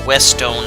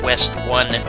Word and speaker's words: Westone: Stone and Sega in 1990 and yes it's pronounced West oh not West one the end but yeah there's 16 stages now